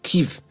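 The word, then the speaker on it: Kyiv: People, I've heard lots of pronunciations of that. I thought it was Kiev. It's not Kiev. It's Kiev.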